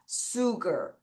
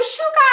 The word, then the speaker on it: sugar: sugar. 다시 sugar. 다시 sugar. 이거 슈가 아니야. 슈가 아니에요. 아니에요. 잘못된 발음이세요.